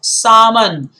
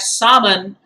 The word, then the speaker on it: salmon: is very important guys salmon the l is silent in the slide previously we were talking about the silent s and here now we have salmon it's a fish and